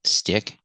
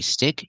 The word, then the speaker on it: stick: In the present, stick. In the past, stuck. And the participle is stuck. Pronunciation, when you say stick, use the short I sound like this is.